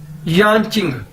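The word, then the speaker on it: 眼睛: एन मतलब face चेहरा यान चिंग वाई ए एन यान जे आई एन जी चिंग Chinese के अंदर जे को हम चे के तौर पर प्रोनाउंस करते हैं यां चिंग मतलब आईज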